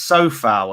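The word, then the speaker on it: Coufal: name again remind me it's pronounced so foul apparently so even though foul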